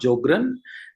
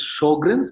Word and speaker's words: Sjögren: First of all, it's not Sjogren. Correct pronunciation is Sjogren's because in German, SJ is pronounced as SH.